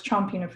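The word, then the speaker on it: Champinefu: I'm like, it's Pinafu, or it's Chompinafu, excuse me. On Pinafu is the Kalapuya people. But Chompinafu, like I hear it mispronounced as well.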